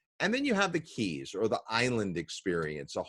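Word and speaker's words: Cayes: then there's the islands or the keys we pronounce some c-a-y-e-s uh the keys we'll be talking about the largest of those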